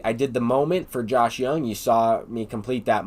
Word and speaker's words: Josh Young: This card is pronounced Josh Young, and I'll try and get a lot of these names correct.